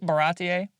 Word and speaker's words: Baratie: Uh in the in the Baratie. Like your first introduction to him. Yeah. Did I pronounce that right? Baratie?